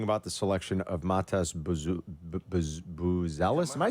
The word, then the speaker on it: Buzelis: Here was AK last night talking about the selection of Matas Buzelis. Am I saying it right? Buzelis. Yeah, Matas Buzelis.